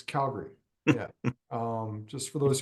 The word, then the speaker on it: Calgary: you pronounce Calgary um if you have the emphasis on Gary you're wrong it's Calgary yeah um just for